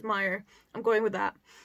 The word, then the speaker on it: Meyer: But given that he's German, I'm pretty sure it's Meyer.